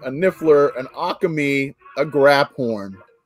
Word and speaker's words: Graphorn: A Zawu, a Niffler, an Akami, a Graphorn. It's actually pronounced grape horn.